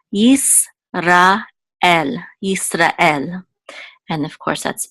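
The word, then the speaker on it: ישראל: This shiva is silent, so it'll be part of this syllable, so it's yis. This is a resh with a kamatz, ra, and this is a aleph with a sigil, which says e. And this lamed is part of this syllable, so it's el. Yisrael.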